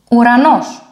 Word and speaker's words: ουρανός: It is pronounced ου, like this one in English, ου, ουρανός. Sky, in English.